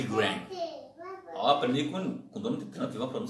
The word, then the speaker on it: Graham: Trump dizendo a pronúncia, não é nem Billy Graham, mas a gente costuma chamar Billy Graham, né? Mas é Billy Graham.